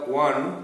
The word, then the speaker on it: one: The letter U in unique is pronounced as YU, U, and the O in the one is pronounced as WA, WA, WA.